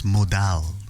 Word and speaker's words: modal: Actually, I keep saying Dell, but it's not Dell. It's Modell.